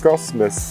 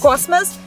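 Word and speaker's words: космос: Cosmos. Cosmos, because if the O is under stress, then it's pronounced like O. If it's not stressed, then it's almost like an A.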